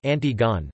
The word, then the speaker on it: Antigone: of the same name, Antigone, by Sophocles from the 5th century BC. In English, it is often distinguished from its antecedent by being pronounced in its original French form, approximately Antigone.